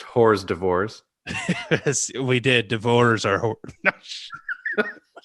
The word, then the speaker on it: hors d'oeuvres: It's pronounced hors d'oeuvres.